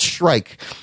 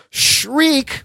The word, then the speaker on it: Shriek: How do you say Shriek, Jesus Shriek? Christ. Not Shrike. Shrike is that was in the Agents of S.H.I.E.L.D. Shriek will be in the Venom sequel.